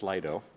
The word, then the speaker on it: Slido: And we're going to bounce directly to, once again, it's pronounced Slido, to Aaron, who's going to kick it off with some distinction between hype and reality.